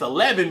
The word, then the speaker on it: Hell Heaven: because it's 11, but it's spelled HELLHEAVEN. So it's Hell Heaven, but I pronounced it. It's pronounced. People in England, when they don't pronounce H's like that, well, certain parts. So if a person from another place said 11, Hell Heaven, they'd be like 11.